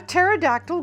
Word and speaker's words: pterodactyl: can't you hear a pterodactyl going to the potty because the P is silent Havilland Landy Frank says